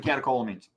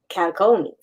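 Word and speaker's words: catecholamines: Rogers say this one, but I think it's catacombs. Don't know if I said that right. Yeah, I I usually pronounce it catakolamines. Catacolamines.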